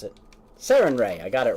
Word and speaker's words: Sarenrae: And Selena, with your knowledge, you know offhand that this is a dedication to the sun goddess Sarenrae. At least I'm pretty sure that's how you pronounce it. Sarenrae, I got it right.